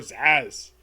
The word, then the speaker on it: Zazz: is literally it for zazz that's z that's how you pronounce his name and a lot of